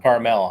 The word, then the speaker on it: Carmel: Yeah, and I guess it's supposed to like phonetically spell caramel, like caramel by the sea. Ah. Carmel, I think they pronounce it.